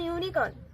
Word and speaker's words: unicorn: जैसे कि an unicorn also we use. An unicorn. Which is wrong. It will be a unicorn. ठीक है, क्योंकि U also, this is also Y-U. The pronunciation is coming as Y-U.